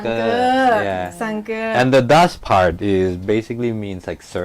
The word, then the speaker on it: Sanker: I think it's supposed to be. But it's hard to pronounce in Lao. Yeah, in Lao, that's why we dropped the edge. It becomes Sanker. Yeah. Sanker.